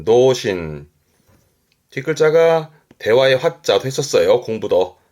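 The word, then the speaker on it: 童心: 발음은 도신.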